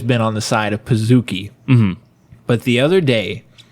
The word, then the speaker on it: Pizookie: I've always been on the side of Pizookie. Yes. Because it's a cookie, not a kookie.